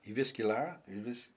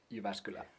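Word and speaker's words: Jyväskylä: I was uh driving from um Eviscular, how do you say? Ivascula.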